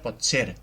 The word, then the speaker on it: potser: es crea aquesta aglutinació, la paraula es pronuncia potser i no té la síl·laba tònica en la O.